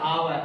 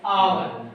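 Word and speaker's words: hour: एस तो आपका ये है, एस से हावरता है तो आपने समझा हावर है, लेकिन हावर नहीं, एस साइलेंट है, आवर।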